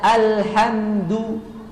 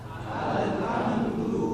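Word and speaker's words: الحمد: menjelaskan tawasut alhamdu alhamdu Alhamdulillah harusnya dibaca alhamdu alhamdu alhamdu coba alhamdu jangan Al tapi alhamdu alhamdu lillahi lillahi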